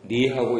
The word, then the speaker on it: 네: 말씀하신 거기 때문에 내하고 네하고 이거 구별을 잘해야 됩니다. 어떤 분들은 내하고 네가 구별이 안 돼요. 이상하더라고요. 그래서 그게 구별이 안 되시면 내하고 니하고 하셔야 됩니다.